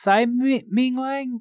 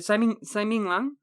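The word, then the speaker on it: Tsai Ming-liang: Director of Straw Dogs, we're talking, of course, about, it's pronounced Tsai Ming Liang? I'm pretty sure. Tsai Ming Liang.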